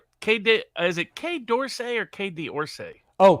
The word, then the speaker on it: Quai d'Orsay: It's is it Quai d'Orsay or Quai d'Orsay? Oh, Quai d'Orsay, that's French.